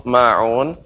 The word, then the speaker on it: ماعون: Ya, pengucapan terakhir untuk ma'un tidak jangan terlalu panjang. Ma'un, akan tapi cukup ditekan dua harokat.